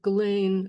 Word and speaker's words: Ghislaine: I recently watched an interview that Ghislaine, I believe that's how it's pronounced, Ghislaine Maxwell did with her brother a